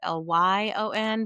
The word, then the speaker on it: Lyon: Lyon is Lyon, but it's pronounced like the animal, and .com.